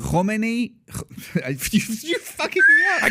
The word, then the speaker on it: Khomeini: Right before Khomeini, right after Shah, you guys leave, you come to the States.